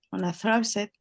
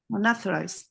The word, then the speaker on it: unauthorized: The exploitation of a valid computer system to gain unauthorized. Unauthorized. Muy importante la palabra AU porque la pronunciamos como author. Viene realmente autorizar, viene del que autoriza, el autor. Por eso decimos author, es de autor.